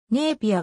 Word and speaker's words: ネイピア: で港町であるネイピアが現地の発音に近い人口は約 6.6